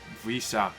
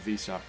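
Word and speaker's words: Wissa: And the forward line of Mbuemo, Tony, and Visa. That's how you pronounce it, I think. Visa.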